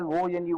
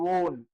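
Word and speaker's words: -one: You have to pronounce as ONE, one, not one.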